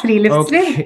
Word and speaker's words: friluftsliv: Norwegian word, I don't know if I can pronounce them correctly, so please correct me if I'm mistaken. So it's Friluftsliv. Yeah, Friluftsliv.